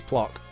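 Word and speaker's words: Plok: This is Plock. This is Plock. And that is how you spell it as well.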